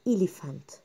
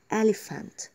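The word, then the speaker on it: elephant: فيها كتير وبنسمع غلط ناس كتير بتقول لها اليفانت لا ما تتكيش قوي على حرف الاي لان حرف الاي هنا بيبقى الشارت يعني قصير فبالتالي لما نيجي ننطقها هنقول اليفانت هنقول ايه اليفانت طيب عندي كمان ريست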